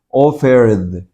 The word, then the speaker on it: offered: La palabra offer termina en R y si se pone la mano acá, diga offer, tiene sonido. Entonces, esta ed se pronuncia como una D. Offered.